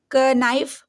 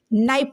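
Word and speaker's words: knife: अब इसको क्या पढ़ेंगे क नाइफ बिल्कुल नहीं नाइफ पढ़ेंगे इसको इसको क्या पढ़ेंगे कॉमन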